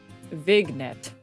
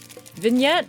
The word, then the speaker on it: vignette: How do you say this word? Vignet. I don't think that's correct. I don't think that's correct. I forgot she's illiterate. I can read the words. Whether or not I pronounce it correctly is a different story. Okay. Vignette. Vignette. Oh, is the G silent?